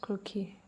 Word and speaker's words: croquis: So it's pronounced croaky cuz it's a French word.